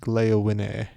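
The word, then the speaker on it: Gléowine: So his name is actually pronounced Gleowine, but I'm not going to go, let's exhaust Gleowine. So maybe I should say Gleowin at least. It's halfway there, but I'm not doing it.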